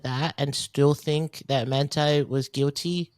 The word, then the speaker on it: Manti: know if it's is it manti or monty because originally when i saw the name yeah i thought i saw the name sorry no i thought mentee too but then i heard the appearance say his name and i was like oh it's well manti yeah yeah like originally